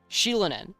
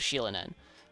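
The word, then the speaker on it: Xilonen: with Z wait no know how was it pronounced it was not z z I thought it was Zen and it was sheilan n that's what it was it was sheilan n um doesn't want to do with her patch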